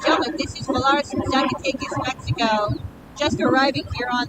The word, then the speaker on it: Zacatecas: And coming up right behind them on taxi is Valaris, joining us from Zacatecas. Did I even pronounce that right?